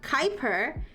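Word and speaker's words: Kuiper: Oh, Quiper is pronounced Kyper.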